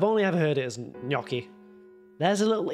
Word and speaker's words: gnocchi: yaoki Yoki and Yoki hold on how to pronounce gnocchi Noki see that's what I said knocky knocky knocky